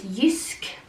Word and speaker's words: Jysk: Other than that is Jysk, that's how you say it in Norwegian.